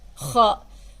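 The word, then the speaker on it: خاء: It's kha. That's how you pronounce it.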